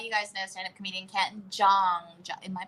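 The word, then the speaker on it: Ken Jeong: So you guys know stand-up comedian Ken Jong. Am I pronouncing that correctly? Ken Jong.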